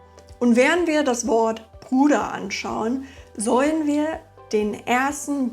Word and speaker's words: Bruder: So hört man manchmal Puder statt Bruder.